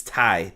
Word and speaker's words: Tay: uh and excuse me I shouldn't say Tay it's Tai taiti is how they kept pronouncing it uh tati uses her